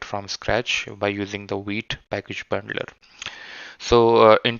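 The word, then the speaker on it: Vite: config.js and I usually uh you know use wheat and white as alternative pronunciations but the concept Remains the Same it's wheat okay and then we are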